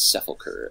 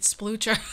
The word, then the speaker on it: sepulcher: I think it's sepulcher, and it means like a grave or a place of resting, like a resting place. Oh my god, that makes so much more sense, because I was pronouncing it splucher.